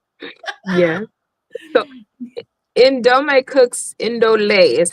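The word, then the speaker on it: Ndolé: Indole is how it's pronounced. Indole.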